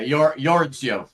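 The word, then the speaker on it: Jordsjø: And, um, I don't know how you pronounce their name. Is it like George Joe or Yords Yo or Yeah. Yordsio.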